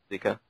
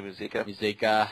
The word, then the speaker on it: Muzika: That was announced that the co-founders of Bioware, Ray Zika. yeah, you can basically, because they're Canadian guys, you know how to pronounce it. I basically butcher the fucking line. Yeah, it's Gary Zeschuk and Ray Muzika are leaving Bioware.